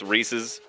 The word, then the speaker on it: Reese's: They They were like, "Okay, it's Reese's pieces." Cuz Reese's rhymes with pieces.